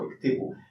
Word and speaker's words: اكتبوا: So iktibu. The alif is not pronounced, so sometimes people just delete it, they write iktibu with also, yet in Egyptian Arabic people are more relaxed.